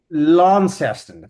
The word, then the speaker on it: Launceston: Like, how do you pronounce the name of this? Launceston. Launceston, thank you.